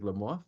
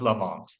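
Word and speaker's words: Lamothe: name was Ferdinand Joseph Lam moth is it Lam moth or Lam moth boy there there are infinite arguments about how that one was spelled and pronounced but let's go with Lamont okay let's ask your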